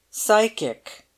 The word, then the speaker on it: psychic: in for psychic photography psychic said bomgardner for the public school boy one regrets to report had pronounced the word to rhyme with Sly chick the doctor added with